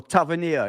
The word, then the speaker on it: Tavernier: Marcus. Tavernier. Or Tavernier, if you want to call it. If you want to call it the English. Yeah, but the pronunciation is Tavernier. It's a French name.